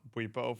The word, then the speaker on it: Bwipo: Well, it's pronounced Bwipo.